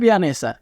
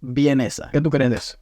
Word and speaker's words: Viennese: regarding sausage or Viennese says @Jeefe it's not Vianese it's Viennese what do you think of that to see for various comments What did they do to me?